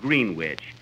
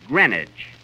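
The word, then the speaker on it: Greenwich: green witch Village Kenny that's not green witch you see here in New York it's pronounced grenage grenage see who did you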